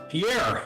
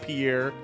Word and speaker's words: Pierre: I did learn it's pronounced apparently pier like a like a pier, a friend. I did not realize that. So, I don't know. I I always said Pierre.